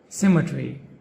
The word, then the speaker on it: symmetry: Symmetry. Symmetry. The ending syllable is tree.